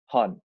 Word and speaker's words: Honne: Nah, lu tuh waktu itu ngebikin aransemen untuk lagu barunya, single barunya Hon. Bener nggak nih gue pronounce-nya? Hon. Iya. Itu yang pertama adalah betul.